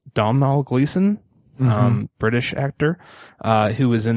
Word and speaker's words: Domhnall Gleeson: The actress, I believe it's pronounced Domhnall Gleeson, British actor, who was in the movie About Time.